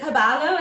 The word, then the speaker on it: Pabalo: And is it Pabalo? Is that how you say? Yes, that's right. Pabalo. Did I put the emphasis on the right syllable? Yes, the Awesome.